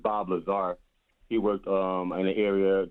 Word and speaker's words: Bob Lazar: He pronounced his name wrong, but it's Bob Lazar.